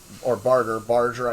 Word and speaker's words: Barger: He's a Hell's Angel, and Sonny Barger, Barger, I think is how you pronounce it, and he played Lenny the Pimp Janowitz.